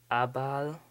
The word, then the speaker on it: Abal: For example, yeah, it's kind of hard to pronounce his name, but it's Abal, A-B-A-L, Dark.